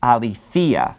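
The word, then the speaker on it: ἀληθείᾳ: the dative case, so it is aletheia. So it's pronounced a little bit differently because the accent is falling on this later syllable. That accent mark's right above the iota there. And also you have that iota subscript. Now remember, the iota subscript is not pronounced.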